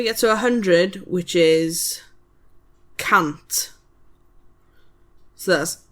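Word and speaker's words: cant: So then we get to 100 which is can't.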